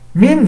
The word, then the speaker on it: من: Min, si je m'intéresse ici, c'est un harf jar. Donc min, à la base, il y a un soukoun. C'est pas mina, à la base.